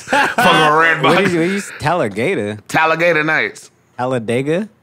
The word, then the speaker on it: Talladega: at least twice for red tallor tallor nights Talladega how you say it I'm glad you guys are witnessing Big C's famous mess ups how you say it how you say it again Talladega Talladega what I say what was the last name